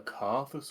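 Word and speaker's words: Coerthas: sure Fu D go the carthus Western Highlands I will continue to pronounce it carus I'm sorry it's just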